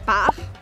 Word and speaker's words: part: Par, que se escreve P-A-R-T, não se fala o T nesta palavra. Então eu falo par. Par.